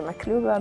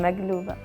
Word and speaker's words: Makloubeh: MAKLOUBEH, which is a traditional Palestinian dish, pronounced differently depending on where you're from. Either MAKLOUBEH, MAKLOUBEH, MAGLOUBEH. It's different.